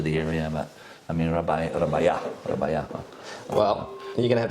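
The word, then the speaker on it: Rabajà: Pronounce that J. Don't forget, in the Italian language, J is not a letter like, my name, or Juventus, the famous soccer team from Turin.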